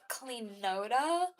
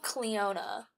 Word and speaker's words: Cleona: So, this is Cleoda. Cleona. No, it's called Cleona. That's how to pronounce it.